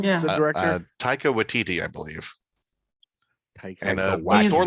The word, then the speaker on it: Taika Waititi: Taika Waititi is the director, and also who plays Korg, the Cronin rock man in it.